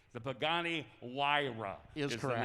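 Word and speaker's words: Huayra: and only five people in the world can actually pronounce the name of it correctly the pagani wira is for the name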